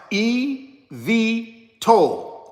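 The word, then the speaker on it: eVTOL: here's what it means it's an acronym EV toll means electric vertical takeoff and landing is typically pronounced EV toll.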